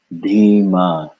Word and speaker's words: धीमा: First syllable, dhi, aspirated. You should feel it. Dhi, dhi, aspirated dental D. Dhi, dhi. Second syllable, ma, dhi, ma, dhi, ma, dhi, ma, dhi, ma, dhi, ma, dhi, ma.